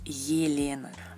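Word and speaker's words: Елена: Se pronuncia como el diptongo Y cuando está al principio de la palabra. Por ejemplo, en español tenemos Elena y en ruso es Yelena.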